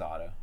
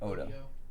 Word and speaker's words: Odo: I think his name was Otto, right? The shapeshifter. He had a cool, weird face and like a. Odo is what they're saying. Odo. Maybe it is pronounced Otto. No, I think Odo was correct.